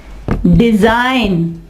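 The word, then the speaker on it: design: इसके अलावा रिजाइन, रिजाइन, यहाँ पे G साइलेंट। डिजाइन, डिजाइन, और इसके अलावा फॉरेन, फॉरेन, ठीक है, फॉरेन, फॉरेन, फॉरेन, यहाँ पे G जो है वो साइलेंट होगा।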